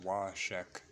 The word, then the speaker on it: Wahshek: dash dash dash one woman named wahshek pronounced washek said my name is